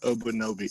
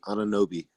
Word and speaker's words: Anunoby: The old gangster Obunobi. I don't know how to say it. OG something. OG Alwyn. Yeah, I just can't say his last name. You know that. Say it, Case. OG Anunoby.